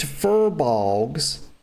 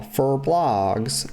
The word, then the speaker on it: furbolgs: the tree, and crazed furbolgs, I used to call them blogs, y'all. Fur blogs. Then I realized it was not pronounced that way.